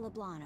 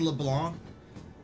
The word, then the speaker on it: Leblanc: You know, I'm sure the name of the restaurant is LeBlanc. I mean, it's French and all, but I hate the fact that they don't pronounce the C.